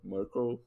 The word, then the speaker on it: Merkle: and it's even know how to to pronounce the thing they write Merkel like Angela Merkel and yeah in any